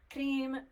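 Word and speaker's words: Krim: see it's okay cream is the first one cream k r i m cream whom hu M pronounced whom and then so you could do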